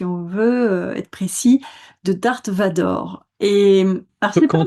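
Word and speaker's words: Darth Vader: Eh bien, en fait, ce n'est pas Dark Vador, c'est Darth Vador.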